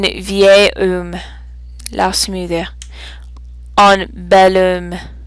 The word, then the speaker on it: vieil: Pour vieux, beau et belle, beau et nouveau, on a une forme pour le masculin singulier avant une voyelle pour la prononciation. It just doesn't sound right if I say un vieux homme. It sounds a little choppy. Un vieil homme.